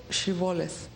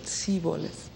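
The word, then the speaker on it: shibboleth: were crossing the river they would request to pronounce the word shivales they could not pronounce it like that and they pronounced it siboles at that point the bible described a huge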